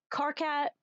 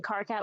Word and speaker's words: Karkat: Gonna start pronouncing Karkat with emphasis on cat. Karkat?